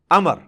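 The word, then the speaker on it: عمرو: लफ्ज ही गलत है लफ्ज उमरू तो कोई लफ्ज ही नहीं है लफ अमर लिखा होता है उमरू लेकिन उसका मतलब वाओ जो है व साइलेंट होता है और वाओ का मतलब यह है कि आपने इसे पेश की बजाय जबर से पढ़ना है उमर की बजाय पढ़ना है अमर तो हजरत अमर बिन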